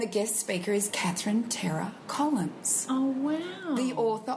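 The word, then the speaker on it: Terah: Terra. It's Terra.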